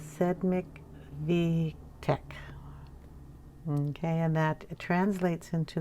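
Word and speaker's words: Sedmikvítek: in this book now i was told by one of my subscribers how to pronounce this so i'm going to try so the title of the book is sed mctech okay and that translates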